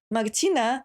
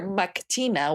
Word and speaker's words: Martina: Because and that's why, for example, when I say my name, people don't hear Martina, they hear Mactina with a G, and I'm like, no, you know the name Martha and you know the name Martin, yeah, just add an A